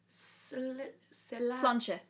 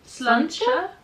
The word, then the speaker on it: Sláinte: Sláinte. That one. Sláinte. I don't know if I pronounced that right.